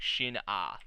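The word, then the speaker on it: Shin-Ah: The subtitle's kind of weird, like because they have it as like sin or sin, but the way they were pronouncing it was like shin ah, like shin ah.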